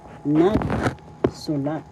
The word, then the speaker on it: nagsulat: that is example halimbawa nagsulat that means wrote first syllable second syllable su third syllable the first syllable has the accent so you pronounce this word or because in tagalog nagsulat nagsula wrote the next